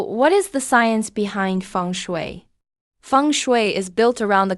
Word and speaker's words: feng shui: before but what does it really mean funu pronounced funu is an ancient Chinese discipline focused on how